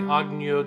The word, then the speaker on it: Agneau: There's no hard G on og. It's not an og, anything like that. It's like if you're saying onion, onyo, onyo, nya. Okay? There's a glide. 2, T. Agneau de Dieu qui porte